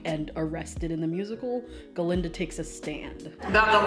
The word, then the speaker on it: Galinda: Glinda? It's Galinda with a G.